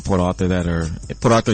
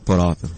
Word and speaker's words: Port Arthur: Can you say Port Arthur one more time? Port Arthur. I don't know how to say it like that. I say Port Arthur. I mean, you can say ours. Do you say ours when you say Do you say the R when you say I'm sorry, what?